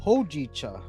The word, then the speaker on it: hojicha: Oh, you say hojicha. Hojicha. Hojicha. That's how you say it.